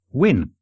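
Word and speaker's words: Nguyen: in touch to say the closest English approximation to this common Vietnamese name is something like win you mean in Gyan and guide yes apparently is pronounced when I even found a youtube video to put in there for you to show that is the case how can ngu y en be pronounced win that doesn't make any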